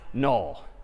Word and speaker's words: NUL: like this instead and this character is again sort of pronounced null or written n-u-l so that's all right